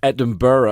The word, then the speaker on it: Edinburgh: the ass end of Brighton right up to Edinburgh. Edinburgh. It's Edinburgh. Am I not pronouncing that right?